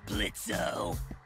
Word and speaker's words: Blitzo: Sure, Blitzo. The O is silent now, bitch.